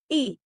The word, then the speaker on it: ई: The next vowel is the long ई spoken like the ई इन the word C.